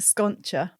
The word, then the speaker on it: Sconcia: It's pronounced Sconcia, my last name, but I also Sconcia because it's Sconcia. Yeah. Because the C and the I in Italian is a ch sound.